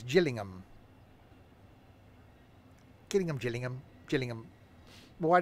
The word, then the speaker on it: Gillingham: I'll use some paper is sold in rooms Gillingham with a G as and as in Jill says Gillingham killing him Gillingham Gillingham why they call it